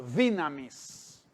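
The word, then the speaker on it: δύναμις: es la palabra que se pronuncia en griego dynamis dinamics la pala también en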